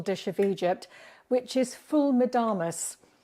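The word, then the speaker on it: ful medames: which is full madamas I always used to call it full madams because it's spelled m-e-d-d-a-m-e-s but I was told quite firmly recently on a Viking river cruise in Egypt that it's full madamas and fool means bean and so that's where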